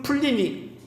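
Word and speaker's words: Pliny: 이 플리니우스 2세는 혹은 플리니 이건 영국식 발음이고 로마식 발음은 이제 플리니우스란 총독인데 이 사람은 역사적으로 시인이었고 편지를 잘 쓰는 사람으로 유명한 사람입니다.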